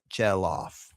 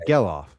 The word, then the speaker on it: Gelof: So, uh, moving over to Zack Gelof, Jellof. Gayoff. Gail. Gay. Gailoff. Gillof. I just looked up and they said it rhymes with yellow but with an on the end.